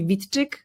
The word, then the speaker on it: Witczyk: for those who want to learn the proper pronunciation of my surname which I don't use use very often is actually Vitic.